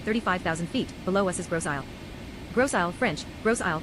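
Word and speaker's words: Grosse Île: Ladies and gentlemen, as we continue our flight at 35,000 ft, below us is Gross Aile. Gross, French, Gross Aile, pronounced Grossielle, Big Island, is an island located in the St.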